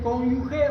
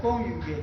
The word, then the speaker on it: cónyuge: Muera, no, no se dice cónyuge o cónyugue. Cynyug cónyuge. Cynyug. No es no es la UG. La U. No hay e cónyuge o conviviente dos.